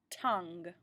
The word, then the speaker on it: tongue: put it up top tongue again you don't really hear that you e is that G is soft and those are kind of just placeholders they're just there the next word I